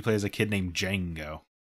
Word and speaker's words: Django: as a kid named django django with a DES yes D silent I would assume the D is silent I just remember when